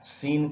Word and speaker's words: scene: जैसे सी यहाँ साइलेंट है, SCENE, सिर्फ एस का ही उच्चार हो रहा है, सीन कहते हैं।